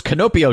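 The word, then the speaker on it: キノピオ: Yeah, Koopal, and yeah, like the in the Japanese canon, it's pronounced like this, and you're saying it wrong, you stupid white bastard. It's not Toad, it's Canopio.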